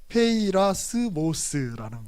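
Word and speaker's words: πειρασμός: 자, 그대로 그냥 발음 나는 대로 읽으면 돼요. 그냥 페이라스모스라는 말이에요.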